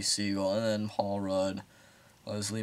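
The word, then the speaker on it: Segel: um let's just say i'm pretty sure you pronounce it jason siegel but is it seagal it must be seagull and then paul rudd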